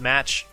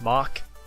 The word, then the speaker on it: Mach: place but whatever alright it's not pronounced match it's pronounced MOC okay you know like the speed of sound Mach 1 Mach 2 okay nowhere is